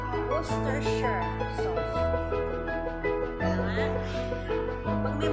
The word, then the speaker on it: Worcestershire: So, Worcestershire. Iyon yung pa-pronounce natin sa atin, ba? Ang pag-bigkas pala, hindi gano'n na. Worcestershire sauce.